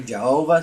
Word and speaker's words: Jehovah: And so in Hebrew also there is no J and the Y uh produces a J sound. So that's why some people say Jehovah, some people say Yahweh because we don't know